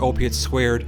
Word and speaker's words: Opiate²: Opiate 2, pronounced opiate squared, is available via streaming services on March 1st with the Blu-ray only visual companion available on March 18th.